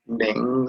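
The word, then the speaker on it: 明: And it's pronounced Ming, like this here, italicized once again, is Mandarin pronunciation.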